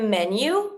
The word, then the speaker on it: menu: If you want to say a menu, we have two types of ways to say it. Un menu, same as in English, but careful on the pronunciation. Menu, menu, or une carte.